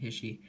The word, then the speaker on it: HISHE: should have ended um or hisy or his he I pronounced it hisy um for his accessory